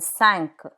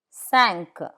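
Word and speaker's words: cinq: Some final consonants are pronounced. Let's take a look at those. Q like in sank. Five sank.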